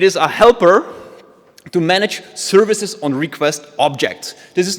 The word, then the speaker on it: SVCS: I want to tell you about my latest project that I'm legit excited about, and it's called Services. It's spelled SVCS because it looks cooler, it's shorter to type, and it was free on PyPI, which is the actual reason.